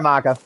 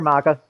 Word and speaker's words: Maka: Oh, sorry, Micah. I was just on my little rant and I didn't pay attention to how I pronounced your name. My bad. You know that I know you're Maka.